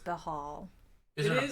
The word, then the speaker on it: Bhaal: Yeah, but according to the Wikipedia, it's So- pronounced Bahal.